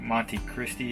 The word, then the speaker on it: Monte Cristi: miles to monte cristi i think monique monty christie is how it's pronounced so our goal is